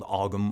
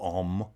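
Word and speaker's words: Ogham: Now, they had a form of writing called Ogam or Om, however you want to pronounce it, but it did not,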